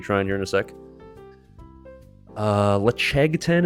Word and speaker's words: Ledaig: Lechegten is really good. It's spelled Ledaig. Lechegten, very tasty.